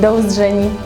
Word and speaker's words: do uzdrzeni: Thank you, do uzdrzeni. (pronounce: doh oozdzheni – i.e. in Cashubian: ‘See you’) Do uzdrzeni.